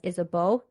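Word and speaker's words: Isabeau: to as Isabella and she's also referred to as isabo because she is Bavarian and so I'm going to call her Queen is a b because that is her Bavarian name Bavarian pronunciation and that's also what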